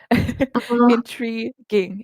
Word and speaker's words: intriguing: Um you see that letter U there? We don't say it. I don't know why it's there. Intriguing.